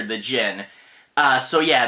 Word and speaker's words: djinn: no chaser uh but jyn is not spelled like the drink it's spelled d-j-i-n-n like the creature the gin uh so yeah it's